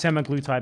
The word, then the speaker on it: semaglutide: He took this semaglutide medication, these injections.